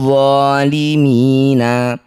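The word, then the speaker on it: ظَالِمِينَ: Mad tabi'i bertemu huruf hidup kemudian dihentikan disebut bacaan mad arid lis sukun. Cara bacanya mi panjangkan 6 harokat, huruf terakhir sukunkan.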